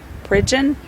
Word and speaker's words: Pridgeon: being released at this time it's jaren dejean pridgeon and i'm going to spell that for you it's the first name is